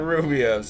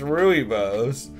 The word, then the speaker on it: rooibos: Taqueria are they Rubios no that's why it's not Rubio's it's Rooibos I don't like that